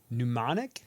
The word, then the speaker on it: mnemonic: of July and Johnny Mnemonic. Yes. Yep. Like a mnemonic device. Yeah, but it's spelled M-N-E.